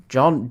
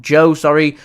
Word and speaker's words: Joe: Uh, John Joe Joe, sorry Joe, hope I pronounced your name correctly there. Uh, it's a jo. I'm so used to seeing an N on the end and going with John and that's my mind processed it as John.